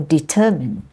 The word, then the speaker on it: determine: the first syab develop or determine it's determine is actually the the stress is on the second syllable determined not determined but